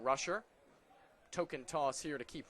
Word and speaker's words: Rusher: It's spelled R-U-S-H-E-R. Was talking to their general manager earlier today, and the way that Bo explained it to him was that it's like push. So Bo Rusher and not Rusher.